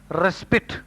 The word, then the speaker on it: respite: Respite or raspit means interval of relief, time for rest. Though the spelling is R-E-S-P-I-T, the pronunciation is respite.